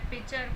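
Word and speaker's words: pitcher: सी एच ई आर इसमें जो टी है वो साइलेंट रहता है पिचर को क्या बोलते हैं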